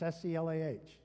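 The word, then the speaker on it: Selah: a whole lot of songs it means it's SE lah actually how to pronounce that one it can mean a lofty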